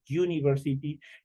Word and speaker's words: University: bien en la pronunciación es diferente de decir University a decir unc ambas empiezan con u pero en el primer caso por el hecho de la pronunciación prácticamente es como que en en University estuviera una I al principio estuviera una y ahí el momento de